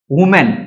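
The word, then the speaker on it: women: अब यहां पर देखेंगे इसका जो प्रोनाउंसिएशन होता है, जो इसका क्लियर साउंड होता है, उसे हम वीमेन पढ़ते हैं गाइस, वीमेन, ना कि वुमेन पढ़ते हैं।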